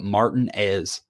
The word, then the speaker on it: Martinez: place in Georgia it's spelled Martinez but they call it Martin as that weird like how